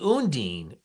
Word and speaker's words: Undine: Ooh, gutter creep, the Undine, excuse me, the Undine. Thank you. Good pronunciation thing right there.